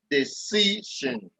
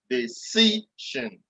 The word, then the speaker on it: decision: Decision. Decision. So the syllable before the last, that is where it comes.